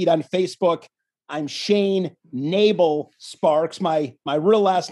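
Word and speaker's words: Nebel: people will see it on facebook i'm shane nabel sparks my my real last name is n e b l pronounced nabel so long story short what happened is i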